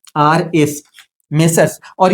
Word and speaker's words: Messrs: जैसे मिस्टर्स राम and Shyam और दूसरा जो होता है वो मेसर्स होता है। एम E double S आर एस। लेकिन ये जो मेसर्स होता है इसका प्रयोग जब भी किया जाता